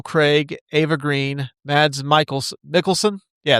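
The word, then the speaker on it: Mikkelsen: Stars Daniel Craig, Ava Green, Mads Michael Mickelson.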